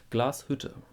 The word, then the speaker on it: Glashütte: And so it's not Glashütte, it's Glashütte. Glashütte. Hütte. Okay? Glashütte. That's it.